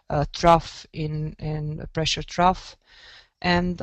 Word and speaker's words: trough: there is also in the 500 hectopascal um pronounced uh truff in in pressure trough and um the system